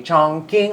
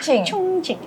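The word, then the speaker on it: Chongqing: branch with Dave di chongking hotpot senopathti Which selama ini saya membacanya dengan cara yang salah bacanya itu yang tepat adalahunging harusnya ya cungcing cungcing hotpot Senopati Eh nah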